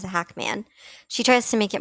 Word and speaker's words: Hacmon: I've noticed in a few videos that Moses likes his last name to be pronounced as Hackman. That's just how he always wants it pronounced. He always corrects her and says Hackman.